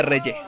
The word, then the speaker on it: Reyeh: Y por cierto, se pronuncia Reye, por lo que estoy escuchando.